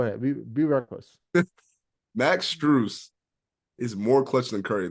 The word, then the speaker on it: Strus: is have you heard of Max streu or struss yeah yeah P used Miami Max struss is more clutch than Curry hear me up